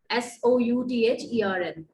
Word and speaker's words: Southern: For the Southern, it's not Southern. The pronunciation is Southern, Southren, fine?